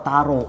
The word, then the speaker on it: tarot: pernah ditarot gak pernah bacanya itu bukan tarot taruh kalau itu agak aneh dong Lu pernah ditaruh Gak lah emang gua barang tapi aku udah nonton film ini baca tuh emang taruh gitu jadi kayak Emang dia